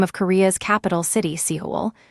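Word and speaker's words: 서울: The first is the name of Korea's capital city, Seihol. The first block ends in an Lbatchum that links gently into the second, giving soul.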